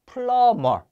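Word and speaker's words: plumber: 런 루이 세탁 세탁물 자 플럼 아 발음 주의하셔야 되어 비가 소리가 나지 않는 묵음 이에요 그래서 플러머 플럼 마 자 뭔가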